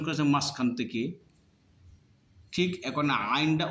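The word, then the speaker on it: عين: উচ্চারণ হবে মাঝখান থেকে।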